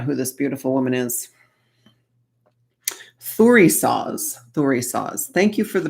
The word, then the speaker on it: Thurisaz: Thurisaz. Thank you for the pronunciation.